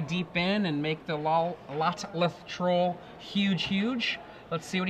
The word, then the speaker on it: Lotleth: Lolteth. How do you say that? Lolteth? Lotleth Troll. Lotleth.